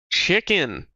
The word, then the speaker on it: CHXN_Z: How How would you like your name pronounced? Chicken. Yeah. Okay, that's fair. That's fair. Without the zah pronounced chicken.